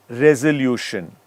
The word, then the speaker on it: resolution: let's take some examples resolution okay it's r e s o even though it's spelled as s it's pronounced as Z resolution now measure it's spelled